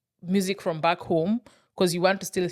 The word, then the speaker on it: Gqom: How do you pronounce GQOM? Home.